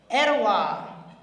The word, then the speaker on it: Etowah: Steve spent his formative years on his grandparents' family farm in Etowah County. Did I say it right, Mr. Gottney? Etowah.